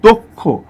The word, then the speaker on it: দক্ষ: সূত্রটা হচ্ছে, এই কয় মূর্ধন্য স যদি থাকে শব্দের মধ্যে, তাহলে এর আগের যে অটা সেটা ও রূপে উচ্চারণ হয়। যেমন দেখেন, আমরা যদি বলি এই শব্দটা, এটা কিন্তু দক্ষ না, যেহেতু কয় মূর্ধন্য